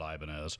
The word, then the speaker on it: Ibanez: just you know it's not the hispanic uh pronunciation of the banyas that many of us over here in the west are familiar with but you know regardless i mean the company has always pronounced it ibanez so if that's how